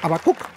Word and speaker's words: Habacuc: demos la bienvenida a babacuc es como mi nombre se pronuncia a bacook perdone usted también predicó